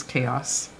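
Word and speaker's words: kaos: word of the stream today's word is chaos pronounce in Danish chaos each Saturday we'll get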